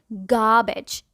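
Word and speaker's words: garbage: यहाँ आर silent होता है और हम बोलते हैं गार्बेज।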